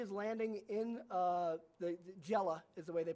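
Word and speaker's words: Gela: so here he is landing in uh the Jella is the way they pronounce it over there in southern Sicily and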